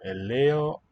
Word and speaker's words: ελαιόλαδο: Eleolado. And note that epsilon and alpha iota are both pronounced e.